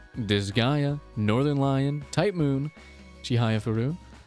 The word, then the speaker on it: Chihayafuru: tip Moon chihaya furu chihayafuru that's how they say it because it's part of the you in Kar you you you you read the poem and then you you you put the emphasis on the words and then you go